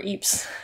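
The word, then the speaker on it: Ypres: uh next comment is from mark kettlewell uh pronounce uh eeps as our eeps i just did it wrong again eep as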